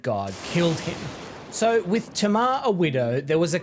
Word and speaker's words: Tamar: My biblical Hebrew is a little rusty, but according to modern Hebrew pronunciation it would be said Tamar, like the name Tamara.